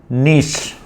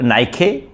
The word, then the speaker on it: niche: It is pronounced at jewelry. Okay. The other word is nish. Nish. N I c h e. It is nish. Nish is n. It is not pronounced at n or nik.